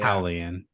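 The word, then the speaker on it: Julián: Yeah. Howlian. I actually learned the pronunciation of his name from fucking Cody Garbrandt, so that's cool.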